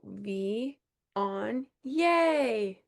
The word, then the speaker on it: Viognier: I have a Viognier. Viognier. The lady told me how to say this. She said, you go V on yay I like that.